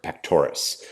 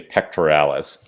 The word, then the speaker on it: pectoris: we have angina pectoris pectoris and now you will frequently mispronounce this and say pectoralis even though is it spelled pectoris and I'm sorry if I